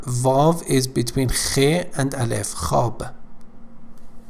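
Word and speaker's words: خواب: again actually here valve is between and alif hob hob means sleep sleep ho har ho her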